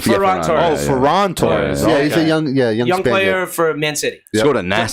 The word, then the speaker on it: Ferran Torres: Ferran Torres. Ferran Ferran. Torres.